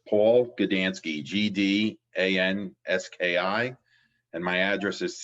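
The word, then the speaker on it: Gdanski: have the other professional mr gadansky am i pronouncing that yes that's correct okay could you please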